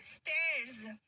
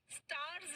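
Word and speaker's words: stairs: स्टेयर्स. स्टार्स नहीं, स्टेयर्स. स्टार्स मतलब तारे, स्टेयर्स मतलब सीढ़ियां.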